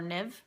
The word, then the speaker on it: Niamh: And that's, for those of you who don't know, that's pronounced like Neve or Niv.